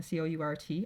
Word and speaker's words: court: You'll notice both the S and the T there are in the parentheses, so that's why it sounds identical, because they are not pronounced and they are the only different part.